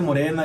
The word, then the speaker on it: Morena: Se dice Morena, que es vota todo Morena.